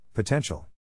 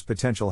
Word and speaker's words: potential: Phonetic Alphabet to pronounce potential have in mind that the size of the syllable indicates where the accent or stress is in this case the accent is in the second syllable corresponding to 10.